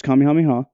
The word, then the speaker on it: Kamehameha: There's two ways of pronouncing it. Yeah. The Americanized way, which is Kamehameha, and then there is the Hawaiian way.